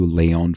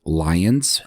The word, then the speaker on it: Lyon: As I mentioned in the last episode, sometimes you'll see Leyon spelled and pronounced lions, L Y O Ns, but I'm using the French pronunciation.